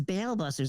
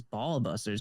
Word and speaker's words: Ba'al Busters: because people are like what is bail Busters I'm like it's not obviously not how it's pronounced right because but that doesn't make any sense but ites it's ball busters because it's medically a